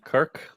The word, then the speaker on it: Kyrk: I'm speaking with Jerry Kyrk. I believe your name is not pronounced "Kirk", but that's where we're going with.